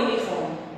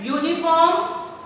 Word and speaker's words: uniform: And a uniform, again you can observe that uniform, it is starting with U but pronunciation is different, consonant sound is there, so we will use a uniform.